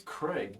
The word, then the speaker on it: Craig: My name's Craig. Craig. Nice Craig. name. Craig. Craig. Even better. Even better. I like it already.